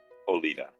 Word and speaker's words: Oletha: that her name is Oletha? Oletha? How do you want to pronounce that, sir? Olita. Olita, okay.